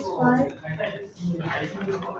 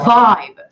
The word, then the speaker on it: vibe: to evoke a mysterious fight. A mysterious what now? Mysterious fight. Fight. Fight. Spell it. V-I-B. Oh, vibe. Vibe. It should tickle. When you say V, it should tickle your bottom lip.